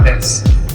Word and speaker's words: desu: These kids from 4chan, they would come in saying desu, desu, desu. They're pronouncing the U. They don't even know that it's actually des.